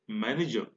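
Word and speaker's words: manager: आप यहां पर देखिए जो लास्ट में र है मैनेजर का वो साइलेंट है प्रोनाउंसिएशन में, हम इसको मैनेजर नहीं बोलेंगे, क्या बोलेंगे? मैनेजर।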